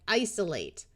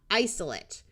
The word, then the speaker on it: isolate: Well, when they're used as a verb, we pronounce it with a clear long A, like isolate. When it's a noun, the A will schwa, isolate.